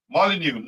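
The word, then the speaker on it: Molineux: pronounce that Stadium M molu no so the x is silent affirmative what is it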